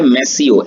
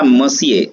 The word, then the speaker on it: Monsieur: तो मिस्टर या सर को कहने के लिए जो वर्ड है वो है मैसियो, MONSIEUR, मैसियो या मसिए, दोनों में से आप कुछ भी वर्ड यूज कर सकते हैं।